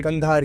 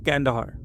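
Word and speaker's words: Kandahar: और ये मैं बात कर रहा हूँ कंधार की। हाँ, मैं पूछने वाला था कि अफगानिस्तान में कहाँ। हाँ, तो कंधार की बात है ये। ओके। और जिसको अमेरिकन अपनी प्रोनाउंसिएशन में कहते हैं कैंडाहार।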